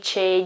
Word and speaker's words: che: Same goes for che. Che cosa? What? Che cosa? It means what.